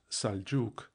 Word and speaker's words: Seljuk: English with an e as seljuk pronounced saljuk marwan pronounced marwan etc.